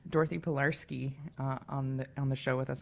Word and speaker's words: Pilarski: Dorothy Pilarski on the show with us. Am I saying your last name correctly, Dorothy? Absolutely. Oh, great. That's Dorothy Pilarski.